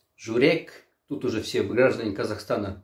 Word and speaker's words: Żurek: Ударение на «у», потому что журек, тут уже все граждане Казахстана напряглись, это сердце.